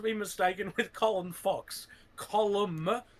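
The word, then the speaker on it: Colm: Column, that's how you pronounce his name.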